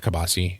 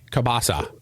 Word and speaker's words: kielbasa: Not kibasi, kielbasa. Kielbasa. Say it right. Yeah, you're not kielbasa. American. Well, no, you're allowed to say kielbasi because it's 4th of July, so you're allowed to speak American.